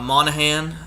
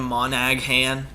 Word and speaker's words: Monahan: I'm looking for uh Monahan I think that's how you pronounce your name monagan I just say it the g is silent Monahan plus nine that's good